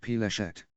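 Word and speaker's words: פלשת: The term, pronounced Peleshet, is the Hebrew word for Philistia, the land associated with the Philistines in ancient times.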